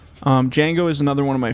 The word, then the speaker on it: Django: the new ones did Jiang or Django I stayed to Django obviously the D is silent Django is another one of